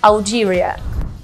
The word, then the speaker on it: Algeria: E o interessante é que no português a gente fala Argélia. Então a gente troca o L com o R para pronunciar em inglês, Algeria.